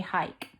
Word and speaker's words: hike: Hike. Yep, another sneaky E, making it say its name.